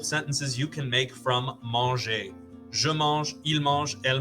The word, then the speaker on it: mangez: The vous form sounds just like the ER form. They are both pronounced manger. They sound exactly the same.